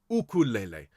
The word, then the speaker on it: ukulele: the yuke it's the because the hawaiian people pronounce this ukulele and for those of